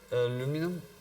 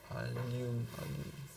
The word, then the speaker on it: allium: I'm not sure really how to pronounce that. Aluminum, ouais. Aluminum. No. Allium. It's the same.